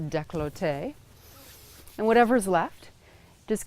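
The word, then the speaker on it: décolleté: throat down into the I always pronounce this wrong I believe it's pronounced decollete and whatever is left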